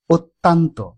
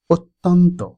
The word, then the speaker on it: অত্যন্ত: আরেকটি শব্দ রয়েছে অত্যন্ত, অত্যন্ত। এই শব্দটি লেখার সময় খেয়াল করুন, ত জফলার পরে আকার ব্যবহার করা হয় না। এটি শুদ্ধ বানান, কিন্তু অনেকেই ভুলবশত আমরা উচ্চারণ করি অত্যন্ত। অত্যন্ত উচ্চারণটি পুরোপুরি অশুদ্ধ। শুদ্ধ উচ্চারণ হবে অত্যন্ত, অত্যন্ত।